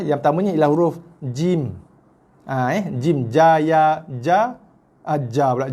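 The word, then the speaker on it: جيم: Jim, ja, ya, ja, ja pula. Jim, ya, mim. Ejaan dia jim jim. Bukan jin bukan J-I-N.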